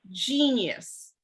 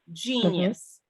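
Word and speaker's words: Geneyus: is um kids Sense Oil and it's called genius and it's spelled g-e-n-e-y-u-s genius it promotes an atmosphere for inspiration productivity and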